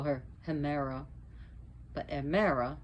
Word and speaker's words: Hemera: They have two children, Aether, which is brightness and light, and Amara, or we call her Hemera, but Amara, because again the H is not pronounced, is the day.